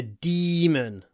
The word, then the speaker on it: demon: he fought like a demon here the main thing is that it doesn't rhyme with lemon so lemon but demon it's a bit random but you just have to remember lemon demon lemon demon the next one uh